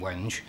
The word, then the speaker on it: wenge: much more Adrian waters had a different reason for rejecting the wood and a different pronunciation the first choice for the handrail in particular was a wee a timber called wenge which basically we could have done it in wench if we coulda waited a